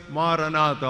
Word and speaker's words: Maranatha: In Greek it is pronounced as Maranatha or maybe in Aramaic.